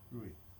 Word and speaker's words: Ruiz: Ruiz. Is that how you pronounce it, Ruiz? It's Ruiz, yes. Okay, good.